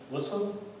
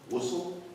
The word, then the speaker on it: ghusl: which one? Ghusl? Whistle? Ghusl. Ghusl. Oh, Sorry, it's got that zang, it's got that.